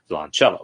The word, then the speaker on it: violoncello: Violoncello with the accent on ch. Violoncello.